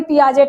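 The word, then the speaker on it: Piaget: जाए पिया जी देखिए पियाजे स्पेलिंग ये है हम पढ़ेंगे तो इसको पढ़ेंगे पियाजे लेकिन नहीं इसको कहा पढ़ते हैं पियाजे पढ़ते हैं ये एक मनोवैज्ञानिक है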